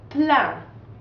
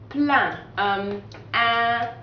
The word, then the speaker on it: plein: So you don't pronounce the N or the S either. So it's kind of like saying the word plant without the NT at the end.